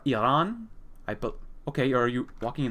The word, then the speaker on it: Iran: I think you pronounce it Iran, not Iran, but Iran.